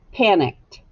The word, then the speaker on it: panicked: the suffix echo me panicked what sound did you hear at the end panicked that's right you heard a t good job erase all